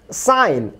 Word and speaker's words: sign: যেমন দেখুন সাইন, এসআই জি এন, জি এর পরে এন আছে, জি এর উচ্চারণ হচ্ছে না।